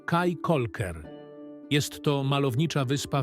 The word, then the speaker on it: Caye Caulker: Utknęliśmy na wyspie Kaja Kolker. Nie Kaja Kolker. Kikoker. Ja nawet nie umiem tego wypowiedzieć. Kikoker. Kolker. Prawidłowa wymowa nazwy tej wyspy to Kaj Kolker.